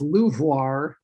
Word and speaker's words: LUVOIR: acronym people pronounce this leuvoir even though it's not really french it's the large ultraviolet